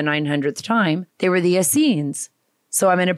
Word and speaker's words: Essenes: They were the Essenes. So I'm going to pronounce this correctly.